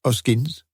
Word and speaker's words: Hoskins: The man, announcing himself as Hoskins, pronounced Oskins, informed Morse that he had been the porter in the flats for just over a year now, 8:45 a.m.